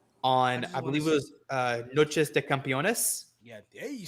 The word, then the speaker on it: Noches de Campeones: Lee and Jurlistico on, I believe it was Noches de Campeones. Yeah, hey, you said it right. All right. Yeah. Noches de Campeones.